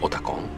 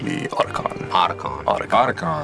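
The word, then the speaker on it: Otacon: Others like Otakon. Right. So the team members always says Otakon. Otakon. But American people say Otakon.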